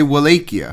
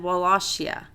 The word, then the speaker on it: Wallachia: on netflix they say walaikia well google the pronunciation because that they said wallachia wallacia you have to say it like that would lost yeah velocity